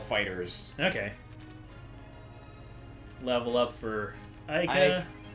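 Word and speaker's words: FighterZ: I always pronounce it Fighter Z. That's what I thought at first, but no, I've been corrected so many times. Apparently, it's Dragon Ball Fighters.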